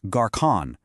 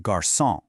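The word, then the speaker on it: garçon: It's a signal to pronounce it as a soft s sound. So without it, the word garson would be pronounced garcon with a hard K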